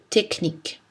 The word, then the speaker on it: technique: Mais attention, dans certains mots, CH se prononce K. Archaïque, archéologie, bac, cholestérol. Christ, orchestre, psychologie, technique.